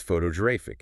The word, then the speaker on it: photographic: Make it an adjective, and it's photographic. It jumps again.